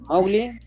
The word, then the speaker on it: Mowgli: Por ejemplo, hay una escena donde Mowgli, que a todo esto se pronuncia Mowgli, no Mowgli, Mowgli.